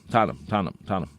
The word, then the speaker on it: Tottenham: Every week I have to remind you how to pronounce Tottenham. Tottenham. Right. Not Tottenham. Exactly. It's not ham and cheese. It's Tottenham.